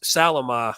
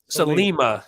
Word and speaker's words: Salima: But the 9-horse Salama, I assume, 7-2. Salima. Yes, you're right. I did know that and butchered it anyway.